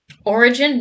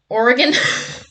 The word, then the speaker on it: origin: Origin, not Oregon. Oh my god, I'm so sorry, J. Rodimus. Listen. Yeah, you're right. That is how you pronounce that word.